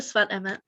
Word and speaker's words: Sfat Emes: If we look at the Sfat Emes, that's the right way to say it.